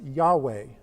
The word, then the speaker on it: Yahweh: hey Bob hey okay and it is sometimes pronounced Yahweh okay this is different than I will be